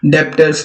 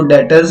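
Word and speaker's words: debtors: हमारे डेटर्स क्या होते हैं, कई बच्चे इसको डेप्टर्स पढ़ते होंगे, डेप्टर्स। तो डेटर्स होता है, बी जो है वो साइलेंट हो जाता है।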